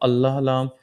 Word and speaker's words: الله: So the sound of lamb will be pronounced with the heavy thick and full mouth sound.